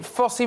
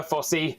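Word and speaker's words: Fosse: So it's Foss is the official, but we prefer Fossy, as in Foss Jazz Hands and all that jazz.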